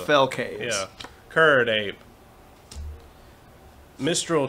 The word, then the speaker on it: Mistral: cane yeah curd ape Mistral charger not menstral charger nature's claim deep analysis is that how you say that yes that is